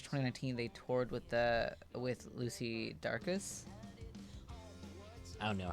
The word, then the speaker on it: Dacus: And in March 2019, they toured with Lucy Dacus. I don't know how to pronounce that. And there's no R in that. It's Dacus.